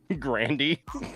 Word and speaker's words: Grande: Grandy.